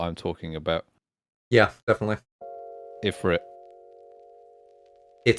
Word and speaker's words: Ifrit: Ifrit, also spelled Efreet, like E-F-R-E-E-T. No one spells it like that. It's Arabic. Alright, well, Ifrit. No. Yeah, cope. Literally, the other way to say it is, like, phonetically what I'm saying.